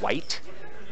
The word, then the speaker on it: Weigelt: white. White. spelled like the game.